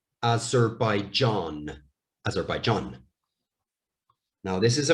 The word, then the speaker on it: Azerbaijan: So, zer, by, John, Azerbaijan, Azerbaijan.